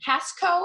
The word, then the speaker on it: Casco: Is it Casco?